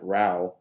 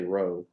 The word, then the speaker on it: Ian Row: son the Fantastic Ian raal and don't say row it's not row it's raal I'll be I'll be